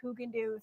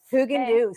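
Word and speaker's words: Häagen-Dazs: Guys, the correct pronunciation is Haagen-Dazs. Haagen-Dazs. Haagen-Dazs from now on.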